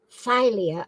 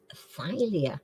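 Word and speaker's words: Thalia: was the Muse of what in Greek mythology phia I'll spell it t h a l i a was the Muse of what in Greek mythology phia never heard of that filing cabinet yeah oh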